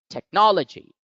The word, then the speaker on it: technology: the international phonetic alphabet see that the apostrophe or the stress mark is lying over the second syllable no so therefore the second syllable gets stressed the word is now pronounced as technology technology technology and with